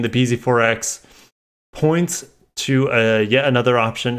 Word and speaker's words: bZ4X: Yeah, I have a bZ4X. It's like, no, I have a Tundra. Two syllables. bZ4X. Four syllables.